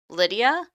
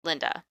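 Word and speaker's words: Lynda: on I keep on want to call call her uh Lydia because it's spelled l y n d a but it's Linda uh anyway Linda was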